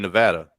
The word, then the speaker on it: Nevada: Like, what are the laws over there in Nevada?